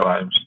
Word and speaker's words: Vimes: Sí, Vimes, es pronunciaria Vimes.